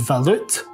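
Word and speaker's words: Waluth: The actual German name is Valut, which is spelled W-A-L-U-T-H.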